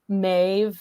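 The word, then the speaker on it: Méabh: like like for example the name mave with the V sound it actually has like a b what looks like a b and an H so um but sa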